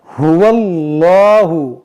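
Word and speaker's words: هُوَ اللَّهُ: आपको 'हुवल्लाहु', 'हा' के साथ दम्मा, ' वाव''लम' के साथ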